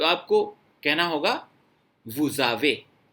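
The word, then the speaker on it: vous avez: वू का जो final S है वैसे तो साइलेंट रहता है, लेकिन अगर ये इफ इट is followed by vowel, ए से फॉलो हो रहा है, वाउल है, तो एस की साउंड जेड जैसी आने लग जाएगी, वुजावे।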